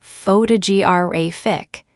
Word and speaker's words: photographic: For example, in the word photograph, the stress is on the first syllable, but in photographer, it's on the second, and in photographic, it's on the third.